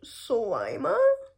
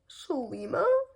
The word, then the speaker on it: Sarima: I think it's pronounced Sima Simma. I'm not quite sure.